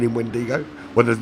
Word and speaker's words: Wendigo: I called him Wendingo for 6 races. Wendigo. It's only when he messaged me and said there's no N in Wendigo.